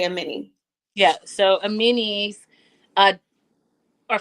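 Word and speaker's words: Amani: I've been saying Ammani. Amen. Well, it's spelled A M A N I. So I think that we made a reasonable mistake. But she did correct Shakina and say Amini.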